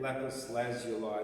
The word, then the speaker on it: lapis lazuli: Lapis lazuli, then it rhymes with flying by.